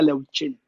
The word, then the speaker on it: Leuyin: Se pronuncia en chino, se pronuncia Leuchin, como si fuera CH, Ah, pero se escribe Leoyin, como mi papá lo puso.